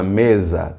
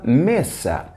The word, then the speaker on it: mesa: E aí atenção detalhe já perceberam que meça se escreve igual a português porém espanhol não existe a pronúncia da letra Z como fazemos em português então logo nós não podemos dizer e no na mesa temos que dizer em una meça é Nuna nessa já